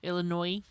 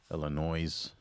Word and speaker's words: Illinois: Illinois. Illinois. We don't pronounce the S.